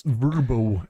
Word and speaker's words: VRBO: if anything is going to take this business down, its name, which is it's impossible to say or pronounce. It's Verbo.